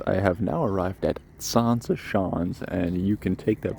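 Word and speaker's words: Zaanse Schans: Anyways, I have now arrived at Sansa Shans, and you can take that pronunciation with a grain of salt.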